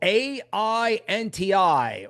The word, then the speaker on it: AINTI: about antivirus ticker symbol a i NTI or phonetically ain't I ain't I wonderful we're